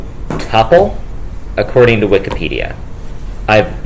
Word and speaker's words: tuple: know cuz the reason I remember how to say tpple is that it rhymes with couple which is also two